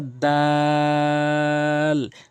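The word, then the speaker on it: دال: এরপরে রয়েছে দাল। তিন আলিফ টেনে পড়বেন এবং উচ্চারণটা হচ্ছে জিহ্বার আগা সামনের দুইটি দাঁতের গোড়া।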